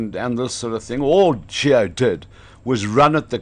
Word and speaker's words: Gio: So we have been told by Gio Aplon's mother that it's Gio.